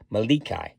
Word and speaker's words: Melik: And this is the Malikai. And Malikai, I checked the pronunciation on that too, and that means king.